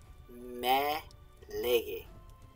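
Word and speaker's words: μὴ λέγε: In ancient Greek, this would have been pronounced me lege. It's a falling accent. Right? It's a falling accent. I think it's a falling accent here. Oh no, this is a low rising.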